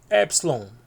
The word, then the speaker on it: Epsilon: Epsilon, que é o E em fé.